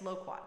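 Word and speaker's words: loquat: low quat low quat I would say low quat yes yes low quat that's right that's how you pronounce it low quat low quat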